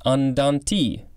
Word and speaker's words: andante: for this episode a-n-d-a-n-t-e it could also be pronounced andanti this is an adverb